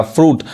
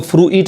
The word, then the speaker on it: fruit: देखिए, जैसे FRUIT, अब यहाँ पे जो आई है वो साइलेंट है, फ्रूट पढ़ाएगा, फ्रूट। अब इसको फ्रूइट नहीं कहेंगे, लेकिन वही देखिए, यहाँ